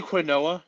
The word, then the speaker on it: quinoa: I was going to say, you want to say Quinoa, you son of a I might have.